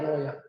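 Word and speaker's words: 洛阳: 이 나급이 지금으로 얘기할 때 우리 발음으로는 낙양, 중국어로는 러양이래요, 러양.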